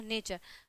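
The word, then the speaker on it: nature: है, यू आया है, तो टी के जस्ट बाद यू आया है तो क्या हो जाएगा, नेचर। तो नेचर का क्या हो गया आपका, यहाँ पे उच्चारण जो प्रोनाउंसिएशन है वो क्या हो गया, च हो गया है, ठीक है।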